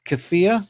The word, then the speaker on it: kefir: What's out what's our thoughts on kefir or kafir as they say in America?